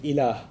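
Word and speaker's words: إله: which there's the term ilah. If you want to write that in English, it would be I-L-A-A-H, ilah. It's pretty easy to pronounce in English, okay?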